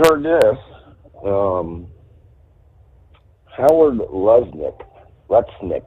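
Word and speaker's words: Lutnick: this um Howard Lesnik letnik I believe it's pronounced he's a economic senior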